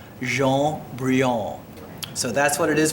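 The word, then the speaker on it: Jaune Brillant: I called it Joanne Brilliant for a long time until someone who spoke fluent French pulled me aside and said it's pronounced Jaune Brilliant.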